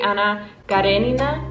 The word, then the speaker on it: Anna Karenina: Actually, I received so many comments from people being like, sis, you said it wrong. It's actually Anna Karenina.